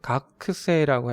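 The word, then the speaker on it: 学生: 보면 학생은 한자인데 일본어로는 각 세라고 해요 각세 예 학은 각으로 읽고 생은 새라고 발음을 해요 그래서 이렇게 지금 읽은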